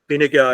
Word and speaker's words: Fine Gael: Have I pronounced? Yes. Fine Gael, Fine Gael, which stands for Tribe of Gaels.